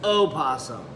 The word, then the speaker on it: opossum: Opossum. What did I say? A possum. Well, whatever. It's not possum. O is silent.